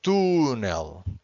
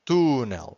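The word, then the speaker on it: túnel: For instance, here this word it's tunel. Tunel without the accent. This would be tunel because the word ends with an L. If the word ends with an L, we always have to stress the final syllable.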